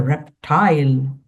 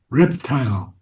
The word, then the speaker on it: reptile: The answer of the reptile and the fish. Oh, reptile. First syllable. Reptile. Not reptile. Reptile.